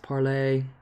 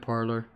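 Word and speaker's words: Parler: jones for the facts it's spelled parlor and pronounced parlay yeah but even the news media like cnn and all them are calling it parlor there's also gab which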